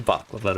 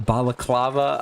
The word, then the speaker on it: balaclava: And yes, I am aware I am not saying that right. It's a baklava me. That is how I have always said that word. So I am aware I'm saying it wrong.